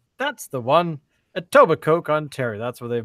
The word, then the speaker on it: Etobicoke: my god how do you say that it Etobicoke that's the one Etobicoke con Terry that's where they've moved to but